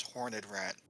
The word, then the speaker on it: Horned Rat: horned rat lore now you need to pronounce it like a skaven it's hornet rat horned i'm pretty sure